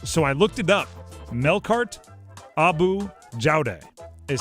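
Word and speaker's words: Melkart Abou Jaoude: Melkart Abu Jaude is how you pronounce that.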